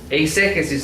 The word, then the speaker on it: eisegesis: Eisegesis, les voy a explicar cómo se escribe. E-I-S-E-G-S-I-S. Eisegesis. En inglés se le dice eisegesis. Eisegesis. No Jesus del nombre de nuestro Señor. Ese no.